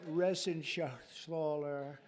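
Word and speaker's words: Reschenthaler: and Guy Ren Shaler you know that Ren Shaler he's uh that's actually the way you pronounce it you know nobody else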